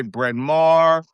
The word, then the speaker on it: Bryn Mawr: Like places we would say Bryn Mawr, Ballackinwood. And then somebody in the 2000s was like, you're pronouncing all those names wrong, right?